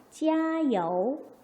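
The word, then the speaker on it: 加油: 얘는 뭐죠? 찌야, YOU인데, 자, YOU에서 이 Y는 뭐죠? I의 소리를 내니까 이요우가 되겠네요. 소리 내봅시다. 加油, 加油, 加油.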